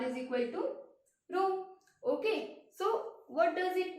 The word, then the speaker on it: rho: Rho is the constant which is known as resistivity.